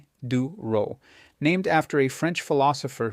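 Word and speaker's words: Diderot: Even there's something called the ditto effect pronounced duro named after a French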